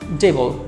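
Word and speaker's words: devil: hand অথবা হচ্ছে ডেবল এই শব্দটার উচ্চারণ অনেক শিক্ষার্থী ভুল করে ডেভিল বলে কিন্তু এর সঠিক প্রোনাউন্সিয়েশন হচ্ছে ডেবল সো রিপিট ডেবল পরে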